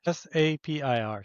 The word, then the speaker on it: Sapir: Sapir.